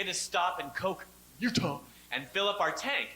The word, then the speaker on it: Utah: Although I was, before I went to England, I was in Utah, that's how you got to say it, actually. Utah! Because You don't say it like you're sneezing or throwing up.